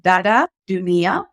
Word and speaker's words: Dada Dunia: tongue especially for like native speakers so you pronounce it dada Junia and Dada means sister in the sahili language